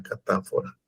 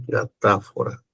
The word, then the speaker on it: catáfora: la anáfora y la catáfora. Anáfora y catáfora. Anáfora con acento en la A. Catáfora con acento en la A.